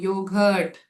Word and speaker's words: yogurt: Yes, it is giving a hard G sound. Yogurt, G sound.